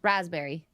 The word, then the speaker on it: raspberry: did raspberry Rasberry Rasberry I don't pronounce the P raspberry raspberry raspberry I don't